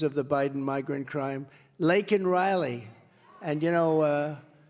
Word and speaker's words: Laken Riley: Laken Riley. And, you know, Biden was unable to pronounce her name, called her Lincoln Riley.